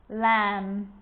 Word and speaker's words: lamb: It's always silent when it follows the letter M. Climb, crumb, lamb, thumb, dumb, and plumber. So practice them with me. I'm not pronouncing the B, I'm just pronouncing the M consonant sound.